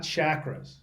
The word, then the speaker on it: chakras: Not chakras. It's pronounced chakras.